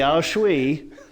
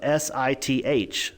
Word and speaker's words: sith: spell it Sith so s-i-t-h yeah but it's not it's not pronounced Sith but it's spelled that way which I thought when